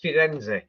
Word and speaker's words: Firenze: And if you're in Italy, then you're actually going to pronounce its real name, and its real name is Firenze.